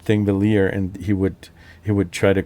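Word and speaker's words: Þingvellir: For example, if you have, I'm not sure if it's like that for every single word that has a double L, two L's after one another. But you're not going to pronounce it Thingvellir, but Thingvellir. There's always some kind of D or T before the L's.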